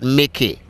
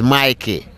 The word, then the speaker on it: Mikey: remember spell it correctly my name is not Mickey that's for the mouse this is my key and that's me mi ke y all right so bless